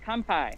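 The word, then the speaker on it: 乾杯: We say kanpai.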